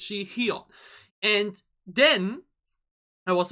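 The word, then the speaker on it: Sihyeon: which is Shihyun, because she's basically written like Shion from Dreamcatcher but with an additional H, so it's Shihyun.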